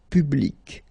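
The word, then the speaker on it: publique: And well, phonetically, it is exactly the same thing. So public at the masculine form, feminine form, public, the same.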